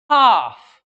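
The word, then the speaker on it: half: तो स्टूडेंट देखिए कैसे, काफ बछड़ा बछड़ी, काफ, हाफ, हलफ नहीं होता, हाफ, पाम, पाम, ये पाम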